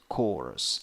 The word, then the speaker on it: chorus: here oh course course chorus it's with s not with z chorus nyx number five